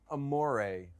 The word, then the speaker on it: Amoray: So first of all, it's Amoray Resort. So it's a double entendre on the Italian word for love. That's Amore. When the moon hits your eye like a big pizza pie, that's Amore. But it's spelled like Amore eel.